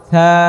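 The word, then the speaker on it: ث: তাহলে জিহ্বা বের করে আদায় করেন, উচ্চারণ করেন, তাহলে নরম হবে। থা থা থা থা থা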